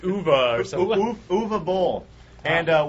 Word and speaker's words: Uwe: How are you supposed to pronounce his name? Uwe, right? It's actually... It's Uva or something.